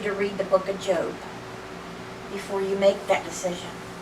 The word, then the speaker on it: Job: I always keep that bookmark on the book of Job. Job, spelled like job, J-O-B.